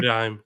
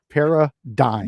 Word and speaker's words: paradigm: you say that word Paradigm Paradigm yeah there we go who the why don't you just make it dime at the end perah dime we didn't make we